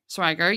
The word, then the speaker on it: Schweiger: Schweiger, yes, and Andrew Schweiger to launch Odaptix, whose mission is to provide organizational diagnostic data and insights not previously available.